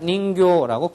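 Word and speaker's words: 人形: 그것은 인형이다, 내 인형이다 이럴 때 할 때는 닌교라고 길게 발음을 해줘야지 됩니다.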